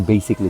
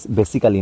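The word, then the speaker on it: basically: পরীক্ষায় আসে এন্ড বেসিকলি উচ্চারণ করেছেন বেসিকলি চমৎকার বেসিক্যালি না কিন্তু বেসিকলি এটা আরেকটা এন্ড রামলিং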